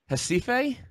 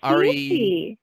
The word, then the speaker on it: Recife: Recife? No, Recife. Sorry.